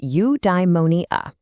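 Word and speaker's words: eudaimonia: It's pronounced udeimmonia.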